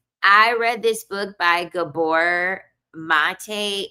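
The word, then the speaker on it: Gabor Maté: I read this book by Gabbor Mate. It's spelled he the it's spelled G A B O R M A T E.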